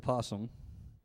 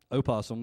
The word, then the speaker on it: opossum: This is a possum. Opossum, if you want to say it like it's spelled, but this is a opossum.